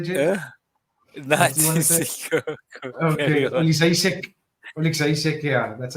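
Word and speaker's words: Oleksiejczuk: Okay, Olishek, yeah, that's how you say it.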